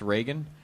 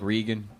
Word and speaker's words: Reagan: So I found the you want to impress white people part most interesting because you mispronounced Reagan. You were like, I like Regan.